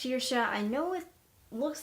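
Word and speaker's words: Saoirse: name incorrect your entire time because it is pronounced sheersha I know it looks like sour C and I've been calling her sour C for a very long time but it's actually sheersha and her name is also very Irish in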